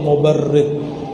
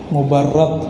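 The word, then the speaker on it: المبرّد: Man ra'a wajhaka yas'ad ya karimal walidaini, hauduka safil mubarrid, wirduna yawman nusyuri. Mubarrad bacanya, as-safil mubarrad.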